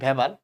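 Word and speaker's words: Weber: হ্যাঁ, বিজ্ঞানীর নাম হচ্ছে মোস্ট প্রবাবলি তোমার হার্নেস্ট হেনরিচ ভেবার, তো অনেক ভেবার অনেকে ওয়েবার বলে উচ্চারণ করতে গিয়ে। কোনো সমস্যা নেই, তোমাদের বইয়ে ভেবাল লিখছে। আসলে ওয়েবার বললে ভালো।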